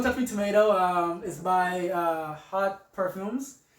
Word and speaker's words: Haught Parfums: So Don't Touch Me Tomato is by Haught Parfums. How it's written, it's pronounced really weird. So it's Haught, pronounced Haught Parfums.